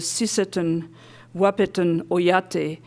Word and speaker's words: Sisseton Wahpeton Oyate: Tallbear is a citizen of the Sisseton Wahpeton Oyate in South Dakota.